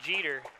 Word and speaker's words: Jeter: Eric Jeter, and they put parentheses like Derek Jeter.